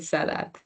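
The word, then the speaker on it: salade: It's actually pronounced salad. I don't know if there are any uh Punjabi speaking Hindi speaking students here but that's literally the pronunciation of salad. In Punjabi we say salat. So it's in salat, right? Okay, great. So salad with a the at the end instead of d.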